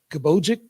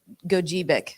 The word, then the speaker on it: Gogebic: So I have a trip planned for the UP over in, I'm going to say the name wrong, Kabojic County? Gogebic. Gogebic, okay. Gogebic. Sorry, Go- I say the soft G.